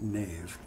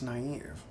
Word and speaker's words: naive: I never know why I don't pronounce it Nave spelled like Nave but that's naive it's always better in